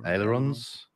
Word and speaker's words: ailerons: How do you pronounce that? Ailerons.